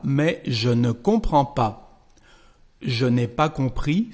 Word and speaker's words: comprends: Well, you know that the verb comprendre is irregular, and here we've got the letter D and S, but we don't pronounce them, so we just say comprends in French.